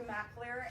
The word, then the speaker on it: Mackler: this is actually it's m c capital a l e e r it's pronounced mackler and i head marketing